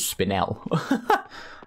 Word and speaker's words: spinel: I actually looked up, that's how you pronounce that word, is spinel.